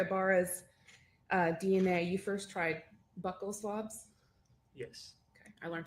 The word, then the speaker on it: buccal: Ibarra's DNA, you first tried buccal swabs? Yes. Okay. I learned today that they're pronounced buccal, not buccal.